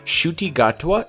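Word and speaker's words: Ncuti Gatwa: like that um and shuy gatea is his name the N is silent I guess because it's ncu t gatea g a t w shuti gatwa is the 15th doctor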